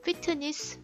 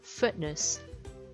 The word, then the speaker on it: fitness: fitness 하면 절대 안 되고요. fitness, fitness.